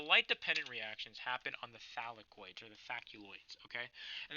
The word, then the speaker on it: thylakoid: One individual chip is called a thaculoid. Okay, or am I pronouncing that right? Yeah, thylakoid. Whatever.